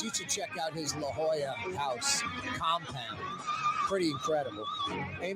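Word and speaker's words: La Jolla: have to go to I think it's pronounced Lala is it Lala here's Drew Brees uh they're telling me it's La Hoya not Lala wow I thought it was LaLa anyway yeah Drew Brees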